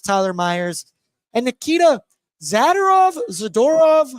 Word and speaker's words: Zadorov: Meyers and Nikita zadov zadorov how do you say I say zadorov I say zorov could be wrong today I'm pretty sure tyup saying zerov and it really really threw me off but he's not here